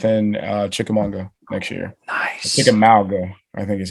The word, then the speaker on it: Chickamauga: Chickamauga, I think is how you say it.